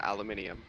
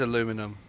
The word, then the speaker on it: aluminium: Then again, aluminum, aluminium. There's no such thing as aluminum.